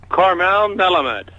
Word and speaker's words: Karmel Melamed: pronouncing your name correctly so for the audience pronounce you'd say your name the way it should be said Carmel melamed melamed okay very good of course I want